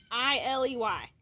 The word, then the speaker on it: Wiley: I don't think I've really ever known very many people that ever was able to spell or pronounce my name right. So it's Wiley.